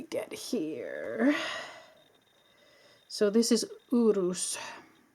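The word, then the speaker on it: Uruz: So, this is Urus. Urus, which we say in Norwegian, urus.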